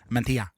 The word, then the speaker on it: mantilla: Notice the correct pronunciation there. Mantilla. Some of us did Espanol GCSE.